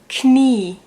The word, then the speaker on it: Knie: But if it's the opposite around, so if there's an I first and then an E, then you pronounce it like a long E.